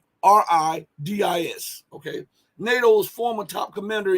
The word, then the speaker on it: Stavridis: I can't pronounce his last name. It's Stavridis.